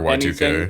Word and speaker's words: YIIK: Does the creator literally just say you can say YIIK or Y2K?